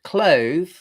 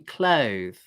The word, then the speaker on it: clothe: Now, as for the root, clothe, the trick to getting this right is to get the vowel right. Okay. The vowel here is the diphthong O. Okay. Now notice that this diphthong O begins with the sound okay. It's not O. It does not begin with the sound O. It's not O. It's O. You see, clothe, like that. Clothe. And then, of course, at the end, you've got to get this sound.